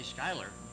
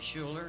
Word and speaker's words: Skylar: few people say Skylar. They say Schuler and Schuyler, and they figure out ways to mispronounce it, and it's maddening.